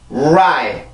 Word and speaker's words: right: R 발음이 음절의 시작으로 올 경우에는 입술이 나와야 돼요. 이거는 국의 유음이었었죠. 혀 끝을 들어 올려서 경국에 가까이로 가고 혀가 끝이 닿으면 절대로 안 돼요. 그냥 가까이 가기만 합니다. 자, 입술이 나와야 되고요. 이렇게 발음을 하죠.